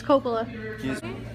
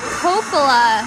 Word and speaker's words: Coppola: It's Coppola.